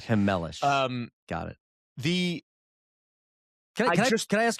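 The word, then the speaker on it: Chmelař: That is how you say Schemlar's last name. It's Hemelish. Hemelish.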